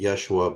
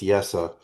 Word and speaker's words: Yeshua: Some people pronounce it Yeshua, but the vowel schwa is pronounced so it's Yesa.